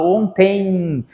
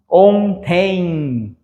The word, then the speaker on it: ontem: ontem não eu falo ontem então vejam Eu estou estudando o quê fonologia Eu estou estudando fonologia então aqui esse em é pronunciado assim ontem beleza palavra também a